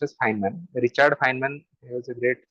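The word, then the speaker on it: Feynman: boring because it is very comp name is pronounced as fan Richard fman was a great scientist phys to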